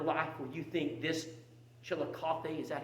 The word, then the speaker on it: Chillicothe: point in your life where you think this chill of coffee is that how i pronounce it again coffee chili coffee don't ever get to a point in your life where you think chillicothe is not right into harvest that's the mistake